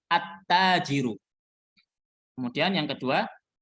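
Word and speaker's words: التاجر: huruf Syamsiah pedagang jadi nggak boleh bacanya Al tajiru nggak boleh bacanya altajiru nggak boleh Alif lamnya terdengar saat Dibaca tapi harus jangan terdengar langsung dimasukkan bukan cara bacanya bukan altajiru tapi attajiru Kemudian yang kedua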